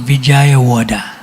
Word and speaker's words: Vijayawada: You know him, he's from Pune before, but he serves as the co-temple president of ISKCON Vijayawada.